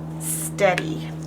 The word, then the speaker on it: steady: There's our short E vowel team and the Y because of the crybaby rule.